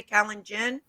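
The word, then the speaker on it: Kalenjin: uh can i'm sorry kenya's calendar tribe is that how you say callan jen yes okay there they have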